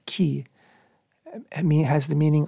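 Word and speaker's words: כְּ: And the Hebrew prefix, a one-letter prefix, the letter is chaf, and we pronounce it ki, has the meaning like.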